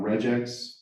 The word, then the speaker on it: regex: Regex, that's cool. It's like vegan, right? They're not eating vegetables, right? Anyway, sorry, George, your the comment, yes. We called bisac. Bisac, right? It's like bad 90s slang. Regex, that's fine.